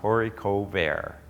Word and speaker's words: haricot vert: I also grow the Maxibel Haricot Vert. It's a French variety. It's pronounced Haricot Vert.